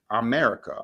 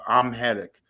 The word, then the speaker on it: Amharic: America, Amharic.